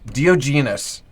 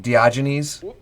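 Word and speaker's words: Diogenes: Dioenus or it's pronounced much more smoothly by the narrator like Dioynes.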